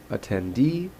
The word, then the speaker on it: attendee: If I click on this, attendee, you're going to see the and this apostrophe here indicates that the last syllable is a syllable that receives a primary stress.